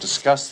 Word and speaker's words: discuss: Don't want to discuss this now. Don't want to discuss this now. I don't want to discuss this right now. Nota, want to, wanna, dicha más rápida. Discuss, enfatizando la segunda sílaba.